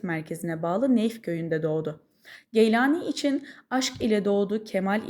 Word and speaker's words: Geylani: Arapçada elcili, Farsçada Gili veya Gilani, Türkçede ise Geylani şeklinde telaffuz edilen nisbesiyle şöhret bulan bu